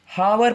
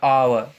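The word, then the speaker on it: hour: को मैंने देखा है, इसे हावर पढ़ते हैं, हावर। इसे क्या बोलेंगे, हाँ यहाँ पे अगेन साइलेंट हो जाएगा, तो इसको क्या बोलेंगे, और या आवर।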